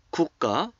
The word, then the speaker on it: 국가: When a symbol end with the 그, 기역, 그, 기역, and is followed by a symbol that begin with 기역, 그, the second 기역, 그, 기역, 그 is pronounced as a 쌍기역, 그, 그.